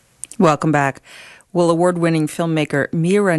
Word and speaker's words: Mira: And my name is Mira Nair. Oh, Nair. Oh, I'm so sorry. I apologize for that. And it's Mira.